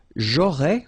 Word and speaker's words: j'aurais: J'aurais, remember, final S not pronounced.